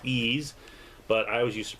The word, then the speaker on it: Ys: holman hold it Oman's I know it's pronounced ease but I was used to brown said as wise so I still pronounce